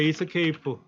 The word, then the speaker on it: Esc: 이거 원래 이렇게 읽어요. escape라고 읽어요. escape. ESC라고 돼 있지만 원래 글자는 escape의 줄임말이에요.